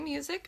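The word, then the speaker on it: Musik: So I am Music, spelled with a K, same pronunciation as music, but I have heard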